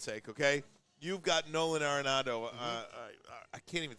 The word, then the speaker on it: Arenado: okay, you've got Nolan Arenado. I can't even say his name. Or Arenado. You got it right.